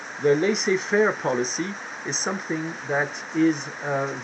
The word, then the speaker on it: laissez-faire: You have to pronounce it in English because that's how the English pronounce it. The laissez-faire policy is something that is very new at the time.